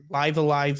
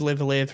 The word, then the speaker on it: Live A Live: Elden Ring, Live Alive, Live Live, heard it pronounced both ways.